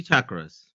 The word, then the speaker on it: chakras: is actually chakras like with a hard ch sound like Yeah, a hard ch sound. Exactly. Yeah. So, my wife actually talks about chakras in her therapy practice.